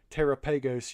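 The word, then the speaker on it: Terapagos: it's been a minute I think it's pronounced like Galapagos yeah it makes sense tragos I like I'm from South so we like to to emphasize our words sometimes so Terra pegos you know like give it that long a Bard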